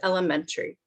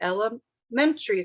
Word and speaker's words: elementary: the same sounds together but they put chests on lemon a elementary school as mentry is the stress lemon different word so sometimes it's it's